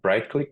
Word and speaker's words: Britklik: out there Alexis Nicholas the name of the company's bright click but it's spelled Brit t k l i k um happy to chat